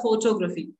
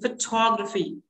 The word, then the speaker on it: photography: Like people say photography, I love photography. But correct pronunciation would be photography.